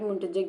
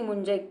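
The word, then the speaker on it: muntjac: या फिर एनामाइट एनामाइट मुंटजैक जिसे कहेंगे, मुंटजैक नहीं मुंजैक कह सकते हैं इसको, टी साइलेंट हो सकता है, तो मुंजैक या मंजैक भी कह सकते हो।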